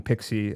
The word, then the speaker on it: PKCE: Uh Pixie, it's pronounced P, it's written PKCE if I remember correctly, not PXI E like maybe some of the people may be thinking.